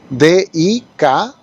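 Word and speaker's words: δικαιόω: La palabra griega es dikaio, con doble O, acento en la primera O, D-I-K-A-I-O con acento O, dikaio, que casualmente es la misma que está en 1 Corintios 4:4.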